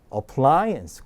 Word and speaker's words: appliance: 자, 요건 강세가 I에만 있어요. A가 두 군데 나오는데 강세가 없어요. 그럼 어떻게 나온다? 슈어 발음이 나야죠. 자, 그래서 appliance 그렇게 읽습니다.